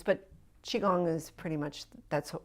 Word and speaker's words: Qigong: I've heard it pronounced Qigong in different pronunciations, but Qigong is pretty much, that's how we are going to pronounce it.